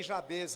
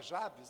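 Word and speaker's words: Jabez: Eu citei jabês aqui, tem gente que fala Javes, né? Mas, ah, no porto, primeiro que as palavras em hebraico, elas têm a tendência de ter a sílaba mais forte, a última sílaba da palavra. E também quando a palavra termina com Z em português, mesmo sem ter o acento circunflexo, a tendência é da sílaba tônica ser ali, né?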